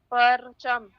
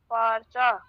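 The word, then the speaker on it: پارچه: तुप तुप फेदर फल पर्चा पर्चा नहीं पर्चे मैंने एक कानून बताया था आप शायद नहीं थी फारसी में उर्दू में जिस हर वो हर्फ जिसके आखिर में हे हो जैसे काबा बच्चा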